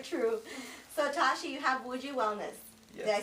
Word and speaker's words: Wuji Wellness: So Tashi, you have Wuji Wellness.